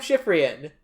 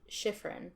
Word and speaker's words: Schifrien: Schifrien. Ignore the C and the last E.